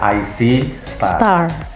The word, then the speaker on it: IC Star: Itu kita harus membacanya IC Star. Kita melihat bintang.